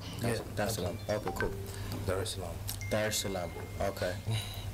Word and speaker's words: Salaam: Did I pronounce that right? Yeah. Salaam.